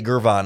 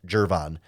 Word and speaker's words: Gervon: and important no it's jervon it's pronounced with a J even though it's spelled with a G people who say gurvan are wrong it's pronounced jervon Javon Dexter and Zach